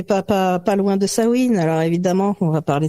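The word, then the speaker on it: Samhain: à la base c'est un mot gaellque qui s'écrit S a M u i n d' sawin et non pas sa main et ouais et alors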